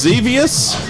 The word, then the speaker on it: Xevious: devious is probably pronounced xevious foreign begins with an x uh credits at the